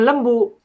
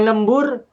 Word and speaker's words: lembu: Bukan lembur, bukan lambe, bukan lamba, tapi lembu.